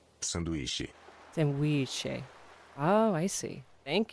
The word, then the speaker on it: Sanduíche: Sanduíche. Sanduíche. Sandwich. So this one, it's funny that Jake just brought it up. So this one is said as it's spelled.